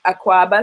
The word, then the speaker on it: Akwaaba: So actually, when you get to the airport, you see a big Akwaaba sign, which is spelled A-K-W-A-B-A-A, Akwaaba.